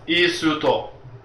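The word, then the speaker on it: イースト: It's called istu, or isto, here in Japan. Yeah. So, isuto is how you say it in Japanese.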